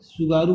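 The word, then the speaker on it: Tsugaru: की स्पेलिंग देखें, टी सुगारू लिखा हुआ है, सुगारू पढ़ेंगे, उच्चारण इसका सुगारू करते हैं, सुगारू स्टेट।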